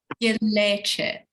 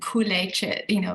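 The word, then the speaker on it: kleicha: Its correct pronunciation is gilleche, and kuleche, like it's the same thing.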